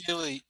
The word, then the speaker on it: Healy: Is Healy the correct pronunciation? I always have checked that before. Healy, yes, Yeah. Healy is the correct pronunciation.